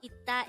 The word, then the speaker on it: 있다: And by the way, if you notice, the first syllable is not pronounced as is, but it is pronounced as it.